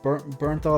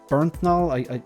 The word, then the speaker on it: Bernthal: I think it's John Bernthal. I can't pronounce it, so I just want to check this. The Punisher actor, I'm gonna go with John Bernthal.